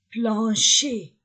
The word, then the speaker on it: plancher: fêtre une porte un plancher je ne prononce pas le r plancher un plancher un